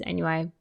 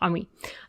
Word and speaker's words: ennui: I've always read it as Ennui, but I know that's not how it's pronounced. Ennui.